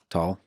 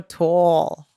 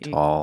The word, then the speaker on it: Tal: Can you pronounce my name? Tal? Wow. most people say Tal. Tal. Or tall. You said tall. Who says tall?